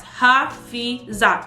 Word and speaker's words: Hafeezat: It's Hafeezat, literally how it's spelled. The T might throw you off, but then I'll just correct you.